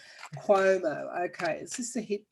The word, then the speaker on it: Cuomo: Cuomo. Cuomo as in Q. Cuomo.